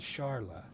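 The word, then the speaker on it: Charle: her name was actually more more likely to pronounced as Charla um because of how the original Japanese had it spelled but because of the localization and stuff we always called her Charlie even though it was spelled CH h a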